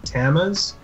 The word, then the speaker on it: Tammuz: we've got I apologize if I butcher this Tammuz a Sumerian god of vegetation that's the right pronunciation there's also Krishna Krishna yes Hindu is